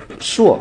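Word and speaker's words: 箾: 舞向箫，这个字呢有两个读音，有的人读说是箫，它和这个箫呢是一样的意思，还有人读呢硕啊，读硕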